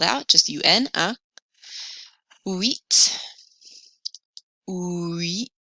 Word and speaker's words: huit: Here's spelled out, just U-N, huit, huit. The H is silent, so you hear the U-I, ui.